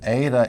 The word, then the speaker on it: eta: Now this Ada is transliterated as an E with a long mark over it. We pronounce it Ada.